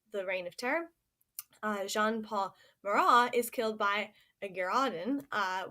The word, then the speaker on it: Marat: then right above him also by jean-paul Marat Marat who is spelled ma are 18 and he these two